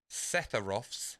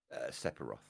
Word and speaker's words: Sephiroth: Now, I may get this geezer's name wrong. Right. What is Setharoth's sword called? Masamune. Okay, did I say his name right, though? Sephiroth.